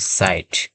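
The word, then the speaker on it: sight: তৃতীয় নাম্বার যদি আমরা খেয়াল করি তাহলে আমরা দেখতে পাব এস আই জি এইচটি সাইট। এখানেও সেম জিনিস একইভাবে উচ্চারণ হবে। আই এর মত উচ্চারণ হবে।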